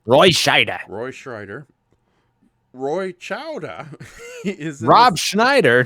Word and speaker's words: Roy Scheider: So, Goji Shea says damn it, I said the name wrong. Roy Scheider.